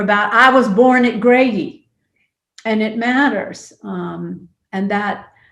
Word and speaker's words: Grady: And I learned that there was an assumption in my DeKalb County community that urban Atlantans, especially African Americans, mispronounced Grady by calling it the Gradys, plural.